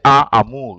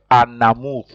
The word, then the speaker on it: un amour: You join. You don't say un amour, you say an amour. You join the N and the A, so you pronounce it an amour, an amour.